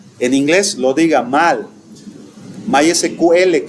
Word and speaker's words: MySQL: My SQL que le dicen, por ejemplo, se pronuncia en inglés Mysql, así se pronuncia, ¿no?